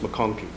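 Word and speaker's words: McConchie: c h i e and it's pronounced McConkey thank you so much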